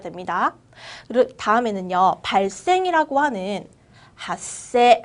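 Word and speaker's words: 発生: 발생이라고 하는 핫세 한 번 더 읽어볼게요. 핫세 읽어볼까요? 작은 쯔로 바뀌는 핫세입니다.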